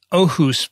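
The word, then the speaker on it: Aarhus: alia i noticed that you pronounced oh who's perfectly because i know you lived in denmark double a in danish is an o oh yeah so i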